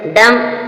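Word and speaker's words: dumb: के बाद जो बी आया है वह भी साइलेंट है डम डम मींस गूंगा एम के बाद भी साइलेंट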